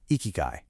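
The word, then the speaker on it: ikigai: And for that, the course introduces this incredibly powerful tool, a Japanese concept called ikyu. Ikyu, and you say it like icky, is basically your reason for being.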